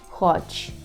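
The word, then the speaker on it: chodź: хоч хоч хоч теж Зверніть увагу що у цьому слові перший так дві букви Це наш двузнак х про який ми вже говорили х хоч і чому пишемо власне це ха а не само ха тому що в українській мові є ходи є буква х а це означає що польський пишемо через це ха Отже G вимовляємо м'яко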